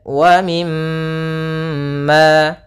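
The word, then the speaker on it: وَمِمَّا: Kemudian wa mimma. Di sini ada mim berharakat tasydid, maka hukum tajwidnya kita namakan dengan gunnah. Cara membacanya yaitu suara mimnya ditahan dulu. Wa mim sepanjang 2 harakat. Kemudian wa mimma, kemudian ma,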